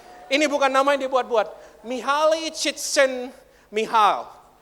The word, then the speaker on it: Mihaly Csikszentmihalyi: Try to pronounce that name. Ini bukan nama yang dibuat-buat. Mihaly Csikszentmihalyi. Mihaly Csikszentmihalyi.